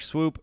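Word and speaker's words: Eric Swoope: I think Eric Swoop is it Swoop or Swope? I think it's Swope. I think it's pronounced Swope, but it's spelled Swoop.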